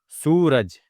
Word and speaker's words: सूरज: क्योंकि जब हम लोग सु बोल रहे हैं तो थोड़ा खींच के बोल रहे। तुरंत र से नहीं मिल रहा है। सूरज थोड़ा सा खींचा रहा है।